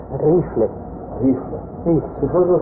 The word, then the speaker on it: Riefle: É, a gente escreve Riefle, pronuncia Rifle.